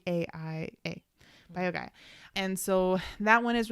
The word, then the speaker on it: BioGaia: use the biogaia i think that's how you pronounce it probiotic b i o g a i a bio guy and so that one is really helping him